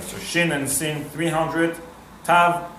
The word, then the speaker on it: Tav: Tav or Ashkenazic pronunciation, Sav, it would be 400.